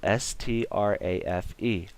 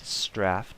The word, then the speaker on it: strafe: It's spelled S-T-R-A-F-E. Now, if you said strafe, chances are you're probably from some part of Europe. I guess that's how they say it over there. If there's an exception, let me know. But from my understanding, Europeans say strafe.